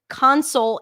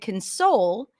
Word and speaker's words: console: present convict record console when it's a verb the stress is going to be on the second syllable present convict record console and then usually the first syllable becomes a schwat because we reduce it it's not stressed anymore all right so